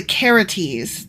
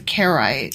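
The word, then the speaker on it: Carites: first thing is, I was saying Karaite mercenaries, but actually I'm pronouncing that wrong. It's the Karites, not the Karaites.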